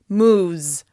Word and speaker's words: moves: /z/ is a voiced sound, which means it follows other voiced sounds. Once again, this helps us be more efficient when producing these sounds. The third person singular of "move" is "moves": moves, moves, moves.